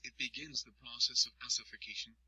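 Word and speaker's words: ossification: begins the process of ocation pronounced ucation ocation is when the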